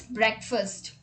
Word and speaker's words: breakfast: language break right but here in this word great turns into brick and we have a separate word in english language as fast but here it's not fast it's first so the word becomes breakfast now let's look at